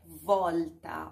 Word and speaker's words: volta: A próxima palavra é volta. Olha aqui, o L antes de outra consoante tem essa pronúncia aqui, ó. Volta. Coloque a linguinha atrás dos seus dentes frontais. L. E diga, ó, volta, volta, ok?